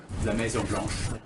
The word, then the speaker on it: Maison Blanche: to maybe even inviting him here to the La Maison Blanche? I don't know about all that, but damn, that's a tremendous French accent. How do you say that again? La Maison Blanche.